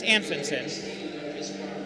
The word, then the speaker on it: Anfinson: I'm a It's an or how did I I said it wrong, but it's Anfinson. Did I don't even know what you said.